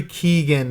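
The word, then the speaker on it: Keoghan: Barry Keegan. It's spelled K O E G H A N.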